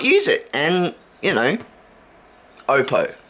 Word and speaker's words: Oppo: it and you know Oppo opo Oppo opo um the way that they pronounce it it's it's a Samsung